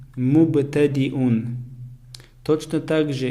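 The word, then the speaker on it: مبتدئون: Первое слово мубтадиун, мубтадиун. Точно так же я не произносится, потому что над буквой я стоит хамза, а хамза читается как алиф.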